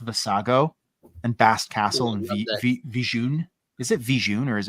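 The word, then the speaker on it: Vjun: And Kyle Katarn and everybody in Jedi Academy says Vijun.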